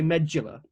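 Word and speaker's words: Medúlla: Anyway, with Medulla, it's got an up accent on the U, so I'm going to say Medulla.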